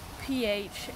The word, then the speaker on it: Phaeton: Now, this one I'm going to really struggle to pronounce, but it's spelt P-H-A-E-T-O-N, and I'm going to go for Phaeton.